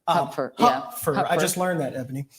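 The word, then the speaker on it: Hupfer: Huer earlier um his actually name is actually pronounced Huffer Huffer I just learned that ebony yeah um and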